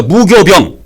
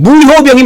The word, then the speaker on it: 무효병: 이걸 그래서 지금 사람들은 무교병으로 발음하지 말고 무교병으로 하지 말고 무효병으로 발음한 게 더 좋아요. 무효병.